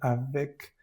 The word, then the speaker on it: avec: Aquí la E está en, digamos que en medio de la palabra. Va a sonar, aquí se pronuncia bien la C. Avec. Entonces, como no es la última de la palabra, se va a pronunciar bien la E. Avec. Es como si fuera una ER o una EZ.